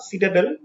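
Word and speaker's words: citadel: इसके प्रोनाउंसिएशन पे ध्यान दीजिएगा. सीटाडेल.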